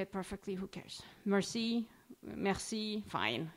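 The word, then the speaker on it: merci: is Meri we right Mercy listen there's an r in it if you don't say it perfectly who cares Mercy Mercy fine it's fine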